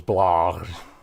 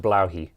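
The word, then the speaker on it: Blåhaj: the the Ikea shark that everyone just calls blah it's actually pronounced bloi oh and it means blue shark in in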